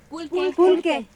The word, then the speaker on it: pulque: Pulque.